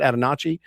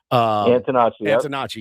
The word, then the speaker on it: Antonacci: The Colson Montgomerys of the world, the Sam how do you say it? Antonacci. Antonacci, yeah. And then Murakami obviously has